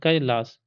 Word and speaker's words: कैलास: पता है कालीदास कैलाश अब कैलाश नहीं है कैलाश कैलाश कैलाश कैलास नहीं है कैलास के ए आई क ये उच्चारण है इसका क कार्य कर्म